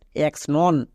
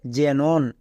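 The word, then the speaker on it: xenon: এক্স শব্দের শুরুতে আছে শব্দের শুরুতে থাকলে কি হয় বর্গীয় যে উচ্চারণ হয় তাই এটা উচ্চারণ হবে জেনন একে অনেকে ভুল করে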